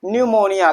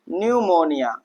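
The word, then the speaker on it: pneumonia: तो यहां पर आप देखिए जो पी है वो कहां आ रहा है? कहां आ रहा है भाई? तो वो आ रहा है एन से पहले। एन से पहले तो यहां पर पी क्या होगा? साइलेंट होगा। यहां हम पी को प्रोनंसिएट नहीं करेंगे। पी को हम छोड़ देंगे। ठीक? दरकिनार कर देंगे पी को। हम पढ़ेंगे क्या भैया? निमोनिया। क्या पढ़ेंगे भैया? निमोनिया। ठीक?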